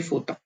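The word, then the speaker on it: фото: यहाँ पे जो ओ है वो आ की तरह प्रोनाउंस होता है, तो ये फोता।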